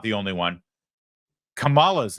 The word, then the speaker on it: Kamala: News I assure you yeah there was a Kamala apparently mispronouncing her own name and that's racist it's